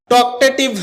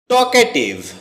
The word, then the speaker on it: talkative: টকেটিভ এটাকে আমরা টকটেটিভ বলে থাকি। যার সঠিক উচ্চারণ হচ্ছে টকেটিভ।